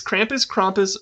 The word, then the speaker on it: Krampus: So Krampus... I don't know how to pronounce it either. It's Krampus, or Krampus for Germans.